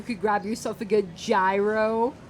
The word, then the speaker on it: gyro: Like, you could grab yourself a good gyro, or if you say gyro. Or hero. I've heard people say hero.